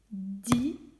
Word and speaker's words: dizaine: Je n'entends pas un, j'entends est et j'entends ne. Parce qu'en réalité, ils ne sont pas, le AI et le N ne sont pas dans la même syllabe. Il y a la syllabe di, zé et ne. Ils ne marchent pas ensemble, ils ne sont pas mariés.